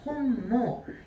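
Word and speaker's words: 本望: 본망이라는 단어 있을 거예요 혼모 요거 두 개만 보우가 아니라 모으라고 읽어 주시면 돼요 둘 다 바람이에요 바람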